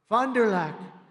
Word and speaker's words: Fond du Lac: Fond du Lac.